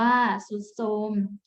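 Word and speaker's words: ทรุดโทรม: อินทรีย์ อ่าน ว่า อินทรีย์ ทรุด โทรม อ่าน ว่า สุด โทรม ทรัพย์ อ่าน ว่า ทรัพย์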